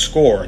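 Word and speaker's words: Scoir: the Common App uh on score that's pronounced score the reason is because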